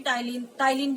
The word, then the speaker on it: ptyalin: Salivary amylase नाम का एक एंजाइम सीक्रेट करता है, और सलाइवरी एमाइलेज को हम टाइलिन भी कहते हैं, पी वहां पे साइलेंट है, टाइलिन भी कहते हैं।